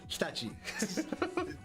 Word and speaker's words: Hitachi: And why he's telling us how to pronounce Hitachi better. Hitachi.